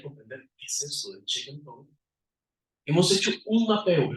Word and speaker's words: Chee Kung Tong: Bueno, check and tone es la manera cantonesa de pronunciarlo, la manera de chino Putonghua es de montado.